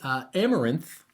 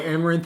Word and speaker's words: Amaranthe: And the challenger will be Amaranthe, if I have that pronounced correctly.